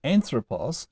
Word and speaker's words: ἄνθρωπος: But as far as possible, the accent on ἄνθρωπος stayed where it began, on the third to last syllable.